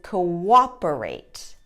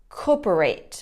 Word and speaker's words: cooperate: o's the same like coperate or cooperate or cooperate they don't make the w sound that is in the middle so if you listen